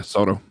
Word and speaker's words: Soto: Is that what it's Soto or? Yeah, Soto. Soto.